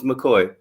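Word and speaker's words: Makoy: say his name was mccoy yes m-a-k-o-y like a real mccoy but it's spelled m-a-k-o-y um and his middle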